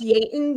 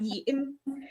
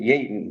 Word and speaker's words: Yeaton: There's no report saying They just said that they were there and then Is it pronounced Yaton not Eaton? Uh he liked to pronounce it Yaton.